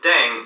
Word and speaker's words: 땡: The pronunciation of dang is similar to thang, which is the slang of thing in English.